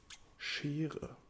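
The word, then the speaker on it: Schere: in a dump but this is called a she she repeat after me she yeah very good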